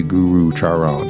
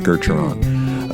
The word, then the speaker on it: Gurucharan: program Geron the second U is silent and so you do not say Guru Chon it's Geron uh a Northwest Native